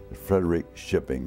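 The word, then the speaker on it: Frederikskoping: his family was from Frederick shipping f-r-e-d-e-r-i-k-s-k-o-p-i-n-g Frederick shipping is the way they pronounced it my mother was from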